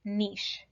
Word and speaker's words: niche: weird it's fed kind of weird but it's pronounced niche and it's all of the strategies and adaptations